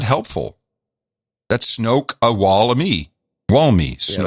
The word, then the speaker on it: Snoqualmie: Then we have Snoqualmie Valley. Snoqualmie. Okay, it says Snoqualmie. That's a shitty pronunciation guide. That should be, it's SNO-K-WAL-me. That's not helpful. That's Snoqualmie.